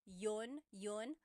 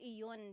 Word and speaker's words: yun: You might hear people say, ginawa ko iyon dahil mahal kita, but usually the letter I sound is dropped.